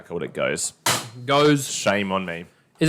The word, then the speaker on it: Gose: already how cold it goes goes shame on me is it goes goes up does it matter so it was g-o-s-u-h was the pronunciation that's right like a